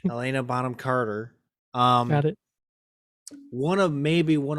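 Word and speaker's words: Helena Bonham Carter: I did snub in the top actresses was Helen bohena Carter bottom Carter bottom corner see I can't I can I'm always afraid to say her name because I'm always gonna say it wrong Elena Bonham Carter Elena Bonham Carter um one of maybe one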